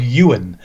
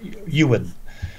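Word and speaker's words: Iwerne: on to the camps so these camps called Ewan spells yes is this great guy looking for else IW IW e RN e but but pronounced you will these these are Bible camps forever for young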